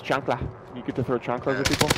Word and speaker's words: chancla: It's actually pronounced chancla.